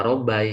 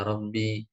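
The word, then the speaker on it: رَبِّي: Jadi tidak ya Robbai ya, tapi bacanya ya Robbi.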